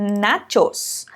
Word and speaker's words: nachos: ou então na teus é como se tivesse um pé antes do ch na shoes repita comigo nachos nachos perfeito bom agora que